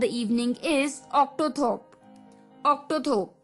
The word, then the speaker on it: octothorpe: लिए the third word for the evening is ऑक्टोथोप। ऑक्टोथोप, जी हाँ दोस्तों, ये भी थोड़ा अटपटा सा वर्ड है, पर जैसे मैंने कहा कि ये एपिसोड काफी मुश्किल होने वाला है, तो ये वर्ड ऑक्टोथोप, OCTOTHORPE, ऑक्टोथोप।